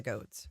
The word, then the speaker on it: Goad: He is not blood related to the Goads. His mother married William Goad. Rhymes with toad.